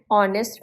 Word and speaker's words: honest: pronounced as air and honest man again the H is silent so it sounds like